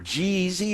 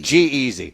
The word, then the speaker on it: G-Eazy: Jeezy or Jeezy or whatever? Yeah. How do you pronounce it? Done with these people. It was like G-Easy. Yeah. Is it Jeezy No. or is it G-Easy? G-Easy.